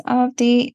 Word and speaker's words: Avadhi: The second A in the spelling is silent, so it's pronounced as Avadhi, and I'm the author of two books.